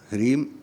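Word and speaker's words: ह्रीं: ह्रीम हारइम है, ह्रीम, क्रीम नहीं, वो अलग सा मंत्र है।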